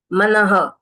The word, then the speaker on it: मनः: के साथ जुड़ जाएगा मनः यहां पर ये विसर्ग लगा है तो न के पीछे लिखा है यानी अकार शब्द है इसके लिए हम इसको बोलेंगे मनः ह अगर ये मनो के